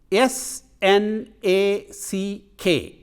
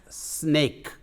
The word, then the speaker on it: snack: a c k as snake. It is it's accurate inaccurate pronunciation. The correct pronunciation is snack. A lot of Indians mispronounce it as snake.